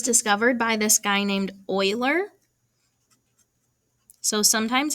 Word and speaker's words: Euler: by this guy named euler so sometimes it's called euler's constant and i know that doesn't look like euler but i promise that's how you pronounce it he was a famous